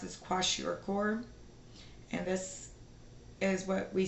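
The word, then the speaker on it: kwashiorkor: right so then this one the way it's pronounced is quash oror and this is what we see children get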